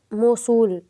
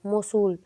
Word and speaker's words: موصول: کا درست تلفظ ہے۔ جواب ہے موصول، میم زبر و موس صاد پیش و سو لام، موصول۔ سوال نمبر 19 ہے،